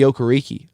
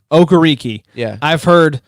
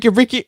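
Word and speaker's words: Okereke: of the way bobby okariki all right media folks it's bobby okariki it's not that hard but i hear that name butchered time and time i think booger mcfarlane called him bobby ricky i was like booger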